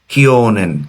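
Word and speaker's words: 去: তো এটার উচ্চারণ হচ্ছে যেমন এই যে দেখেন কিওনেন, কিওনেনের কিও মানে গত বছর।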